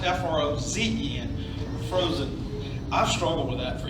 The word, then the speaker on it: Frohsin: We all want to say Frohsin. But it's actually pronounced F-R-O-Z-E-N. It's actually pronounced F-R-O-Z-E-N, Frohsin.